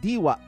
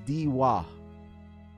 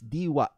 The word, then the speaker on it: Diwa: Okay, it's Diwa, but you have to cut the A. You say ah, because most of the time, the mispronunciation is Diwa.